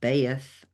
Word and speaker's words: Beth: The esoteric qualities are Hebrew attribution, Beth, pronounced Beaeth, the house.